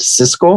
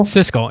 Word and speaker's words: Siskel: famed film critics oh cisco and wait how's that oh god damn he's going out ebert no is it how is the first one pronounced siskel siskel yeah yeah yeah split on